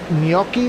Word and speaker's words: gnocchi: I don't know how to say gnocchi. Is that what it is? Yes, that is the proper pronunciation.